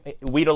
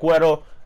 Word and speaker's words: Weddle: Weedle like the Pokemon, yes. But Eric Weddle, the beard himself, I think he should come to the Steelers.